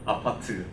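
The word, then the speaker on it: 아파트: The most of people live in this kind of tiny, box type of building that we call apart. That's how we pronounce apartment.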